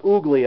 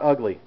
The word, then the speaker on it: Ugli: made in Jamaica and it's pronounced ooly actually not ugly so just a heads up all right let me crack this uh crack this ugly real quick I'm going